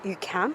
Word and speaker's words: UQAM: So that's how we pronounce it here, UQAM.